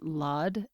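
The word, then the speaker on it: Lad: want to just say his name is dr vassant v-a-s-a-n-t lawd l-a-d and if you are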